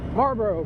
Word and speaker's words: Marlboro: pike otherwise known as marlboro fight we don't pronounce the l here in maryland it's against the rules